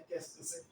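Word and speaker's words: qu'est-ce que c'est: इसका मैंने साउंड भी लिख दिया है केस्क से।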